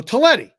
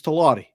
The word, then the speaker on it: Talati: And I go, Talletti. And he goes. He goes, it's Talati. You've been mispronouncing my name for 2 years, but that's okay.